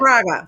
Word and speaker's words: Fraga: how comics like Fargo, right? I want to make sure I say it right. Fraga, Fraga. I know it's a Fraga, weird last Fraga.